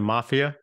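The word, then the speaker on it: MFIA: around these issues great so you pronounced the the acronym Mafia nice you guys are tough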